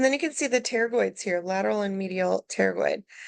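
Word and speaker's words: pterygoid: temples are and then teroid the p is silent okay teroid uh we're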